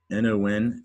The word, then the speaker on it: non: And non, actually, we pronounce it non, but in French, N-O-N, that's how you say no in French, and it's pronounced non.